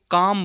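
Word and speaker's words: calm: सी ए एल एम एल के बाद एम है तो काम बोला जाएगा ऐसे ही एल के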